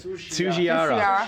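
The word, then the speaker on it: Tsujihara: Tsuchiara.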